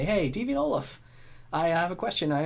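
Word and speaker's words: Ollam: how to pronounce it it's actually pronounced olaf not olam then then you're someone who knows me introduce yourself and you say hey devin olaf i have a question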